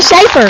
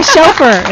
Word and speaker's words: Schoepfer: I was going to say Schaefer. I say chauffeur. It's spelled with a S-C-H.